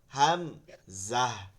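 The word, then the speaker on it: همزة: এরপরে গোলতা আছে, গোলতাটা গোলহা হয়ে যাবে, হাম জাহ, দুইটাই গম্ভীর আওয়াজে হাম জাহ।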